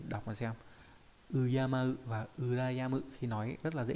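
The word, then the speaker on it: 羨む: về cách đọc âm cương, đó là Uyama, đọc là Uyama mang nghĩa là kính trọng, và từ Urayamu.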